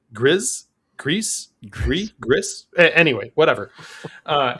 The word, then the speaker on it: Gris: up and just say Gree. Fate Prime wrote in with his like uh his shout out right in parenthesis. He wrote Greece and then wrote it G R I Z pronounced like Grizz Grease Grizz.